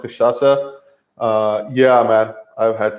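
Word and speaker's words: cachaça: josie it is the how you pronounce is called kashasa uh yeah man i've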